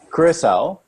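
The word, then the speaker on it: Curaçao: He's over in Curacao.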